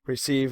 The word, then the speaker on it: recv: The interesting methods are send, receive, which is spelled RECV, and pull.